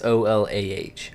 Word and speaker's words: Ola: And when I say Ola, I don't mean like the Spanish Ola. It is OLAH, Ola. Because I think the Ola. Spanish Ola is HOLA. Yeah. Yeah. So it's different, but we pronounce it Ola.